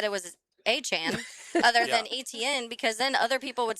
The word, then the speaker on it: Etienne: But I thought that would be Etienne, like etouffee, not A-chan. Yeah. A-chan. That doesn't, those are all silent letters.